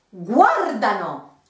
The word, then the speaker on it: guardano: With loro, in the present tense, the pronunciation is a bit tricky because it's always, when possible, a syllable behind compared to the other ones.